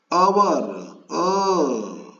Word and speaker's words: hour: But here, our, vowel sound. H is not pronounced here.